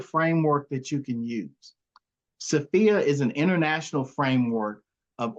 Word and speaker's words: SFIA: if you've heard of it's pronounced sopia uh it's a skills